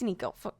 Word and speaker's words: Niko: know this sounds wait is it nico bro uh how do you say it how do you say it nico it's nico crazy but please just let